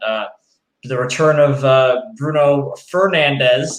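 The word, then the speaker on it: Bruno Fernandes: the return of uh bruno fernandez is the correct correct pronunciation if i may say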